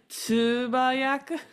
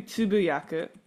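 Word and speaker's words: つぶやく: I said tsubayaku, which, so I'm not pronouncing right. It's supposed to be tsubuyaku.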